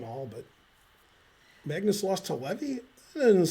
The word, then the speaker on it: Levy: I don't believe it's Levi. Yeah. It's spelled Levy.